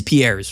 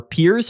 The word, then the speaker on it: Piers: point of Obstagoon is Pierre's, right? Or Piers, I think as some people told me this card is pronounced.